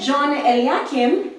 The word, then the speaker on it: John Eliakim: on our Facebook page I'm back here with john l yeah kim i pronounced it right yes it and we've been